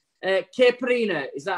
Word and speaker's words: Caipirinha: Caipirinha, is that how we pronounce it? Caipirinha.